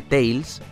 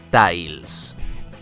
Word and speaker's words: Tails: Tails Y es que en el doblaje español se pronuncia mal su nombre en vez de llamarle Tails le llaman Tails Sí su nombre es pronunciado tal y como está escrito Ay Espero que esto